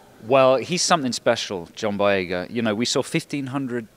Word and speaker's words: Boyega: And his name is John Boyega, the hero in the movie. His name's what? Boyega, John Boyega. It's easy to remember because it's like John Boy Walton.